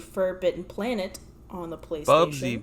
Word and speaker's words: Bubsy: Next, we have Bubsby 3D, aka Bubsby 3D Forbidden Planet, on the PlayStation. Bubsy, bro, not Bubsby.